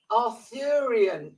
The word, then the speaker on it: Arthurian: I I do have a problem using words pronouncing words Arthurian is the word you were looking for aruan